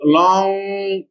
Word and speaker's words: long: singer be pronounced or for example long G silent longer longest G is pronounced so at the N